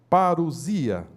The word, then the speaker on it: parousia: A palavra parousia, que se pronuncia parousia, é uma declinação do grego, significa vinda, chegada, presença, volta, visita real, advento, chegada de um rei.